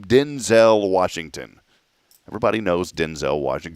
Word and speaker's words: Denzel: Well, he told Jimmy Kimmel recently that his name is not pronounced Denzel. Everyone's been saying it wrong. He straight up told him, he goes, "My name is pronounced Denzel." Denzel. Denzil L is how you pronounce it.